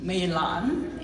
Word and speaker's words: Meilan: So, and they usually say, because of this name, Meilan, it's Chinese pronunciation, beautiful orchid.